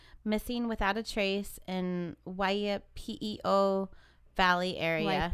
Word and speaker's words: Waipio: The mom posted on Reddit, she said, to my son, Kyle Brittain, missing without a trace in Waipio Valley area. Waipio?